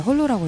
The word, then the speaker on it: HOLO: 네, 맞습니다. 홀로라고 읽습니다.